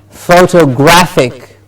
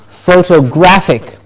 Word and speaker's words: photographic: And we have the next word, photographic. Photographic. So you see, photograph, photographer, photographic. Because photo and graphic compound word comes together to say photographic.